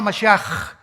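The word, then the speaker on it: משיח: Todos, por ejemplo, dicen Yeshua a Mashiach. Es decir, Jesús el Mesías. Se escribe Mashiach. Jesús el Mesías en el hebreo. Pero se pronuncia la CH. Yeshua Mashiach.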